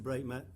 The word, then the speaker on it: Breightmet: No one knows how to pronounce Breightmet, you said. Is that the right way? Breightmet, I believe that's the correct pronunciation.